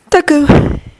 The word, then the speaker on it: Deku: no happiness within it Doku it's a different way of pronouncing the kanji of my first name it's supposed to mean useless you weren't useless midoriya